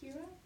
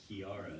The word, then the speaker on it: Kiara: There's like a whole extra syllable in there. Kira? Kira? See, that doesn't even sound right to me. It's like, you know, Simba and Kiera. No, I'm wrong. Kiara. Kiara. That's why I can't say it.